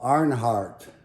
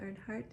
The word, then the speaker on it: Earnhardt: amazing racer and then dale arnheart did i pronounce that right dale earnhardt earnhardt dale earnhardt and his